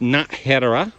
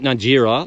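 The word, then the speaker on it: Nájera: Oh, by the way, I got the pronunciation. I asked somebody. It's Najera, not Najera, like I've been saying.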